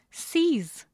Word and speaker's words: seize: The pronunciation is seize. It is also monosyllabic. It is not to be confused with size.